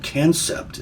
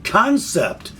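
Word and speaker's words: Kansept: one of these knives i said cancept is the brand of silly me i used standard english pronunciation i just love it when the chinese use english and then spell things wrong and tell us we can't pronounce them but anyway concept knives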